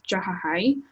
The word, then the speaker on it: Jahahi: to be really honest my real pronunciation of my name is jahi um but J jahi